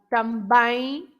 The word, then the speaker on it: também: Also, you have 2 nasal because you have tang, bang. You have the two nasals. Tang, of bang. course, nobody says tang, bang, but it's for you. It's for you to understand that these are nasal sounds.